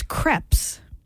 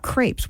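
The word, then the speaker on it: crêpes: you're closer there really it's creps not Crepes we all say crepes oh is that what that little triangle the E is for apparently it's creps all right Jeff you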